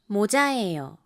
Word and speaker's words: 모자예요: 帽子です。모자예요 のように 1 番目のもは低く、2 番目のチャーは高く発音します。